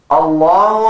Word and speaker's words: الله: Allahu Akbar, Allahu Akbar. Children, the pronunciation of the word Allah is thick. Why? Because it is called Lafzul Jalala. It is heavy.